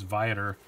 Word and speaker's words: Viator: excited about that and if i'm reading their pronunciation right the email it is Viator not v8 or anything that spider-man really apologizing